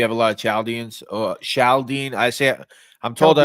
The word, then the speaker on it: Chaldean: Chaldene. I'm told I Chaldean. pronounced it wrong. I don't know if it's pronounced Yeah, it's Chaldean. Chaldean. So it's not CH, right?